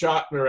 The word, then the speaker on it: Chotiner: He had met and worked with Mary Chotiner pronounced Schottner, ex-aide of Nixon in Florida.